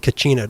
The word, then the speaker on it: kachina: dolls and other objects the basket collection that's pronounced kachina dolls is it spelled i only know knew